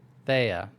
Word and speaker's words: Thea: colonel in the Vanguard named th th the Thea is that how you pronounce it witty Thea Thea Thea thank you meeting with alen's twin sister in